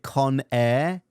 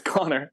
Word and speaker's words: Connor: Is it Con Air or it is Connor? It's Connor. Yeah.